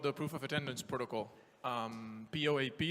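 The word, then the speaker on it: POAP: proof of attendance protocol POA P that we pronounced as in popemobile and Lambos jokes still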